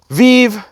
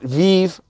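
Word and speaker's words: VeVe: know i think that uh you know the vive app with ecomi you know their their main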